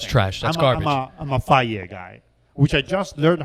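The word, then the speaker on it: Fage: I'm a Faye guy, which I just learned how to say it.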